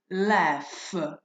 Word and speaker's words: laugh: Notice the pronunciation, laugh. This is f, okay?